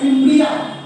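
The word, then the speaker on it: fimbriae: বা ফিমব্রিয়া তার মানে এটা কি এটা একটা ফিমব্রিয়া এটা একটা ফিমব্রিয়া আর আমরা তাহলে এগুলো কি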